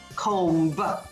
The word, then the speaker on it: comb: w-a-l-k let's go for a walk the l is silent in the word comb comb comb your hair c-o-m-b comb no we say comb and i meet a